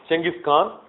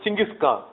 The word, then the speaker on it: Genghis Khan: Then Temujin calls himself Genghis Khan, calls what's called a Kuriltai.